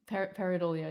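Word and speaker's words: pareidolia: listing and then we got the uh peridol peridolia yes peridolia thank you for you know the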